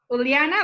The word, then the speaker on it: Uliana: Uliana, that's how you pronounce your name? Yes, it's correct.